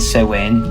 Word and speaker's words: Samhain: Halloween is thought to originate from the old Celtic tradition called Samhain, yes, that's how it's pronounced, which was a festival meant to represent summer's end and the beginning of a new year.